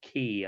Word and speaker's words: ghee: I've also heard it pronounced key, I think. Really? I've only ever heard it pronounced ghee. So do you hear it pronounced often?